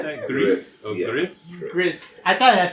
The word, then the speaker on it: Gris: Is that how you pronounce that? Gris. Oh, yes. Gris.